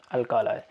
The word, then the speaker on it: alkali: हैं, उन्हें बोलते हैं अल्कालाई। ठीक है, वैसे तो कई लोग इसका प्रोनाउंसिएशन अल्काली करते हैं या कुछ और करते हैं, बट जो इसका रियल प्रोनाउंसिएशन है उसे अल्कालाई बोलते हैं।